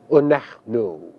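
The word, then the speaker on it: אנחנו: The first common plural, which translates we, is pronounced onachnu. Notice two things about the spelling of this pronoun. First, notice that it is spelled with a het. And secondly, notice that that is a silent schwa beneath the het. Once again, its pronunciation is onachnu.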